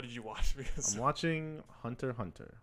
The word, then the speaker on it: Hunter x Hunter: because watching hunter hunter some people call it Hunter x Hunter because there is the letter X between those two arms there's also X's in between every episode name because you're not supposed to pronounce that oh so the author